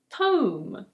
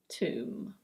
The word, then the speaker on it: tomb: And so you're probably thinking, "Oh, that means this one is "tome". But no. This one is: tomb. Tomb.